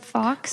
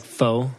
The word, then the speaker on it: faux: Fox? Like faux? Like faux pockets? Faux pockets. Fox. I don't know. It's spelled with an X.